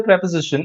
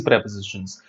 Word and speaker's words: preposition: force of a single preposition are called phrase prepositions or you can call them prepositional phrases prepositional phrases and by the way don't pronounce it pre-position pronounce it as preposition because these are phrases